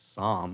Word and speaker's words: SAHM: And it's Psalm, which is kind of phonetically how you think it would be pronounced.